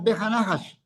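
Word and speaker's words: וּבְהַנָּחָשׁ: Tres palabritas ahí pegadas, bejanahash. Se pronuncia como uno solo, bejanahash.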